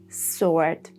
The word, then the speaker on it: sword: First of all, when we have writ like in who, whom, whose and number three, no pattern like in to, sword, and answer.